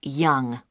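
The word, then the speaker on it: Yonge: now can I have your name yes it's young j h young that's that's spelled y o n g e that's young I see and your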